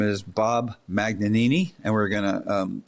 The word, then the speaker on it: Magnanini: Magnanini. Is that the proper pronunciation? Right. And or if you're Italian, manini.